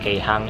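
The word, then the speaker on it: 京阪: Kalau Keihang ini khusus untuk, karena kanjinya ya, kalau dari kanji, dia ngambil dari Kyoto sama Osaka, kanji Kyo sama kanji Saka, tapi bacanya kalau digabung itu jadi Keihang.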